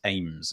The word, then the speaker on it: Ames: It's not, it's Ames at the end.